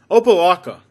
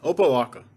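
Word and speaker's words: Opa-locka: on rap music videos and that's about it opalaca yeah that's a weird one oppalaca you should probably never have to go there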